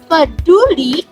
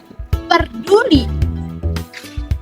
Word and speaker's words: peduli: tentang kamu jadi teman-teman yang benar itu peduli atau perduli nah jika kita lihat dari video yang tadi kita bisa mendengar bahwa kata peduli kata baku yang harusnya diucapkan dengan eh ucapan peduli justru diucapkan dengan kata perdulikan jelas terdapat penambahan ponem r pada video tersebut sehingga